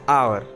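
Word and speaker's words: hour: कुछ नाउन्स ऐसे होते हैं जो साइलेंट एच से स्टार्ट होते हैं, जैसे आवर एंड ऑनर। यहाँ पर एच तो है, लेकिन हम लोग हावर नहीं बोलते हैं, हम लोग बोलते हैं आवर।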